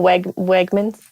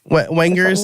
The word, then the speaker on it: Wegmans: Oh, Wegmans. Wengers is what he said. I think it's Wegmans and Renders.